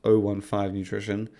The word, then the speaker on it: O15 Nutrition: It's intended to be pronounced O15 Nutrition, even though it's written as the letter O, the numbers 15, and you may just think 15.